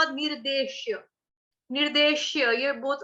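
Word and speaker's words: निर्देश्यम्: निर्देशम, निर्देशम, यम, यम, मैंने आपको 'यम' का उच्चारण कैसे करने को कहा था? जैसे हम कहते हैं कि खाना बहुत स्वादिष्ट है। तो 'यम्मी' में क्या होता है? य-उ-म-म-य, म-म, एक दोहरा 'म' आता है।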